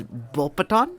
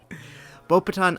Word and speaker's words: Beauxbatons: the next one is bull pathan the S is silent by the way no I did not I knew the X was silent because of the French queerness that's why bow patent Academy of Magic is